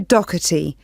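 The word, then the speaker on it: Docherty: have your full name please yes it's doti I'll spell that for you it's d o c h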